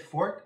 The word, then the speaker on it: fort: Yeah, I said fort, F-O-R-T-E, fort. Forte would be Italian, but it would mean a musical term. If you're saying it's what you're good at, it's your fort.